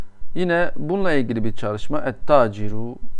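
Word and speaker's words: التاجر: Et-taciru, bakın. Et-taciru, okunuşu bu şekildedir. Yani lam okunmuyor.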